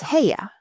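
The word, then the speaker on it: Haigha: His name is Ha. He pronounced it so as to rhyme with mayor.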